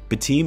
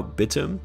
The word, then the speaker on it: Batum: Batum, or is it now Batum? They're saying that's actually how it's pronounced.